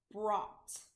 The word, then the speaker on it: brought: our next word is brought brought is tricky because it has the all sound spelled oh ugh BRR